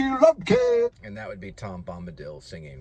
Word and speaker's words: Tom Bombadil: Yeah, that's how you say it. It's kind of a weird name. Tom Bombadil. I think that's how they say it. Tom Bombadil. I just think of dill pickle.